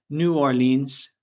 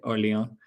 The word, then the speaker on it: New Orleans: So, in English, we pronounce it New Orleans. I know in French a little different. Um, you say Orlon. Um, we say New Orleans, Louisiana.